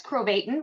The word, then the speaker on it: Krovatin: super special guest chris crobaton rhymes with satan uh author journalist works